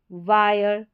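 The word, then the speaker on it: wire: आई आर ई है, तो आप याद रखें आई आर ई में पूरे का उच्चारण, आई का उच्चारण आई करके हो जाएगा और पूरे का उच्चारण आयर, आयर।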